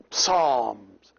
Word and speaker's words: psalm: Like psalms. Psalm. In English, it is psalm. They don't pronounce the P.